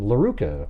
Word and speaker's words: Laruka: And then Laruka, which rhymes with Veruca.